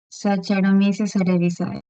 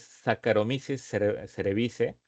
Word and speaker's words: Saccharomyces cerevisiae: Saccharomyces cerevisiae. Exacto. Aunque la pronunciación no es la correcta, porque es Saccharomyces cerevisiae, pero así como lo mencionó, así se escribe, ¿no?